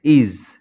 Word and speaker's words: is: যেমন দেখো IS, ইজ, ইজ, এখানে দেখো এসের উচ্চারণ আমরা জয়ের মতো পাচ্ছি, কেননা আই ভাওয়েলের সঙ্গে